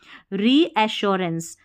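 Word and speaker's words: reassurance: मानसिक ये है ऋ आर ई को री पढ़ना है। देखिए अ ए को यहां पर ए नहीं अ ऋ श यहां पर डबल एस यू है ना डबल एस यू इसको सु करके या स करके नहीं पढ़ना। अ री ऐश फिर है आर ए एन सी ई इसको रेंस पढ़ते हैं तो इसको याद रखें रीअशोरेंस रिअशोरेंस तो यहां पर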